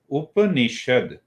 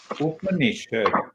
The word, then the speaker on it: Upanishad: You see that you hear the name, you hear the word Up, first syllable, Ni, second syllable, Shad, third syllable. Huh? Upanishad. Upanishad.